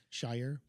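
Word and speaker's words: Shawyer: I bet that rhymes with lawyer because spelled like spelled like lawyer with an shy. Shyer.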